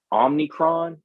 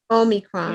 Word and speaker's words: Omicron: we hearing about this omnicron omnicron i don't know how to say it but y'all know what i'm talking about omnicron omicron you know omni i don't think it's omni i think it's omicron yeah i think that's